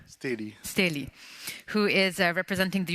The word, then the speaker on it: Steli: Next, I'm going to call up, well, he's already here, Vincent, is it pronounced Steli? Steli.